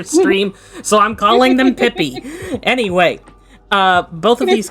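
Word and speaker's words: Pipi: Uh these were made by the same person who I will be calling Pippy even though it's spelled P I P I. I just feel like if I call them P every time, then we are not going to be mature about this for the entire stream.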